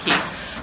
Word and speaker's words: Cay: Standing here at Man O War Cay, Key, spelled C-A-Y, but it's pronounced Key.